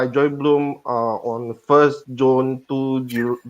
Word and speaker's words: Blum: to share with everyone the correct pronunciation for company name is bloom yes and I'll just